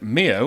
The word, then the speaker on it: Mio: platforms powered by Mio I think this is pronounced Mio m-i-o so if your organization uses is a